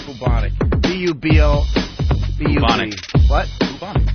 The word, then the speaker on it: bubonic: Bubo, so it's bubonic, not bubos. It's spelled B-U-B, though, right? Yes, it is spelled B-U-B, but unfortunately it's pronounced bubonic.